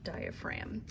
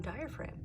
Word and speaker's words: diaphragm: is d-i-a-p-h-r-a-g-m that's right it has a sneaky silent g that you need to know because if you skip the g on diaphragm you look like you have no idea what you're talking about and you all know what you're talking about because you know that there's a sneaky silent g in the word diaphragm if you can't remember